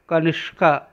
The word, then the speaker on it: कनिष्का: और आगे क्या किया है, कनिष्का लिखा है, इसमें षटकोण का या मूर्धन्य श जिसे प वाला श कहते हैं वह आएगा कनिष्का, ऐसा इसका उच्चारण हो जाएगा।